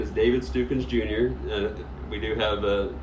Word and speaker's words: David Stukins: now my name is David stupids jr. we do have a ongoing joke about the house pronounce my last name there's a lot of variations of it but it is David's tucán I am fern Illinois